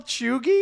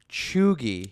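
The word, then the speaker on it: cheugy: like a spelling can you like can you spell it can you spell chugi like what to spelling me can I have a definition um c h e u g y chugi chugi does it have something to do with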